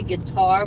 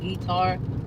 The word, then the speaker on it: Qatar: I always say guitar, but it's not guitar. It's Qatar. I think that's how you say it.